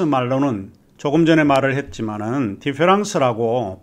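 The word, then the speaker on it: différance: 디페랑스와 디퍼런스, 프랑스 말로 디페랑스는 똑같이 디페랑스라고 발음을 하고 있습니다.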